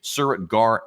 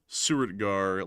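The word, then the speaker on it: Suratgarh: So that is the newest air base that has been struck and attacked by Pakistani air forces has been the Suriritgar air base.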